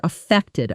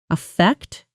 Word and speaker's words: affect: Affect, verb, stress on the second syllable. Affect, noun, stress on the first syllable.